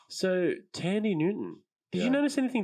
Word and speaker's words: Thandiwe: oh it's now but there's a w in there now yeah but it's still pronounced uh tandy but yeah this is the first movie in which tandy newton has adopted the